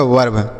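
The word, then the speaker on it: verb: और वी से व तो ये हो गया वर्ब क्या हो गया बच्चों वर्ब तो मतलब इसका उच्चारण हम लिखेंगे नहीं कुछ केवल इसका उच्चारण यहां पर अ निकलेगा।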